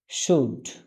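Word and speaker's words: should: সরসকার সুড সুড সুড এখানে এল মাঝখানে এল আছে এল এর কোন উচ্চারণ হবে না আচ্ছা অনেকের প্রশ্ন থাকতে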